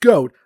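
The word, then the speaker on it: Gohma: Well, at least the boss fight against Goat is fun, and yes, it's pronounced Goat. I mean, his Japanese name is literally Goto for crying out loud.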